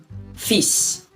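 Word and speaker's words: fils: to pronounce it and the l is left alone it's not pronounced that word means sun feasts all right those are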